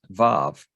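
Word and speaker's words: ו: So our title is, it's not Wa, it's Vav.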